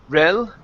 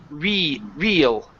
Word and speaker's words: real: This is going to be a long E sound instead of saying rel. Okay, it's real.